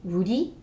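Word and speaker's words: 우리: you is the word for we and it's pronounced Rudy and you can encounter this word a lot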